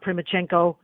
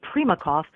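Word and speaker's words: Primakov: Kremlin including people like one-time KGB director Yevgeniy prima chenko and later he became I'm sorry prema cough I'm pronouncing that wrong Yevgeniy prema cough who later then became foreign minister for Russia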